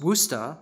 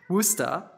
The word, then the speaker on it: Worcester: He was the Bishop of Worcester, pronounced Worcester, sorry, there's a little note on the pronunciation, Worcester, in the time of King Henry.